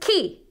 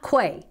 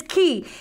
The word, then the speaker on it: quay: when I learned that this word is pronounced key and not Quay because it totally looks like Quake right doesn't it fool do I know I was fooled by that word but it's key and it's that thing